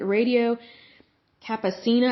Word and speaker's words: Radio Campesina: The company also named Radio Campesina, I think is how you pronounce it, a project of the United Farm Workers Union founded by Cesar Chavez.